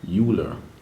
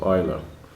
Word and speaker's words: Euler: number name the euler it looks like euler but it's pronounced euler all right now one